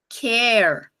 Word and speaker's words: care: gente tem é Car Então esse a tem um som a bem aberto Car se eu coloco um e ali do lado esse a vai virar um som de E então Car virou care sempre que tiver vogal consoante o e no final vai mudar o som da palavra isso se tiver algum